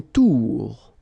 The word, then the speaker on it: tour: Une tour. Okay, O-U-O-U. Une tour.